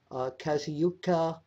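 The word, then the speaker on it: Kazuchika: one of the comments was at number 5, Kazuyuka Okada. Yes. Did I pronounce his first name right?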